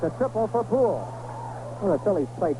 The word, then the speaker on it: Puhl: skipped by Gary and it's a triple for pool one of the Phillies play Terry pool way